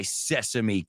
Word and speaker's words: sesame: he says yes he says stop eating my Sesame cake or quit stop eating my Sesame cake